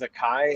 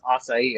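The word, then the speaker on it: açaí: for the longest time i thought it was a kai and i went somewhere like that's acai i was like oh yeah it's acai it's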